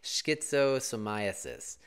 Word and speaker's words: schistosomiasis: it up myself to figure out how to pronounce it schizo so myiasis it's supporting deworming programs in low-income countries the